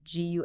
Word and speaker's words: Guay: That's gu a y pronounced gu on LinkedIn.